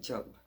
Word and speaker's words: Job: And his name, it looks like Job, but it's pronounced Job.